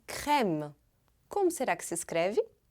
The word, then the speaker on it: crème: Cream, em francês, é crème. Como será que se escreve?